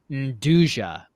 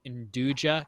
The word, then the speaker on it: nduja: pronounced Nduja. N-D-U-J-A.